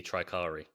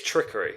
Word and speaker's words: Trickery: Because I feel like America's going to be Tricari. It better not be. It's Trickery. It's got to be Trickery. Surely.